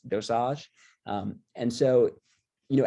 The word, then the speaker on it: dosage: keeps bothering me but it's really called dosage um so in french it's dosage um and so you